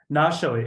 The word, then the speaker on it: Nashali: It's Nashali. Nashali, excuse me.